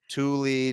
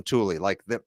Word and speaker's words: Tuli: Tuli, they everyone just calls him Tuli. Just think of the name of the bike rack that you see all the fancy cars driving